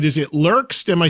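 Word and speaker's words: Lerxst: Tell me I'm pronouncing it right. Is it Lurks?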